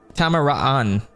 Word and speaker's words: Tamaraan: Tamaraan. Because there's two A's and they're both separate. They're pronounced separately.